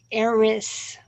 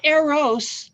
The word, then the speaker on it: Eris: Um, what we have going on is there is an asteroid called Eris, not Eros, the love god, Eris, sower of Spell it.